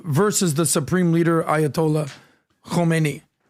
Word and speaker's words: Khomeini: So Khomeini, not Khomeini. Khomeini. Guys, I apologize, listeners. You got to get these pronunciations right. I said Khomeini, but I should have said Khomeini. Yeah. I got to carry that Enye, right?